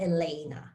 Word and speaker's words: Elena: And then out of her amulet, they created Elena of Avalor, which within the show, she's always called Elena. So her name is pronounced anglicized.